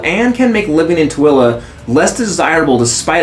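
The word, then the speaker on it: Tooele: you're not from here you probably pronounce this as Tuli but it's called toilla it is situated near the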